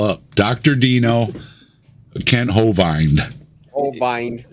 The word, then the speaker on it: Hovind: Like he used a long I sound for Hovind, and then used the E sound that I makes for Dino.